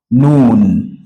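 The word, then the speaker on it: نون: have what we call noon this one noon noon you place your tongue at this soft part of your teeth up the upper teeth then we have what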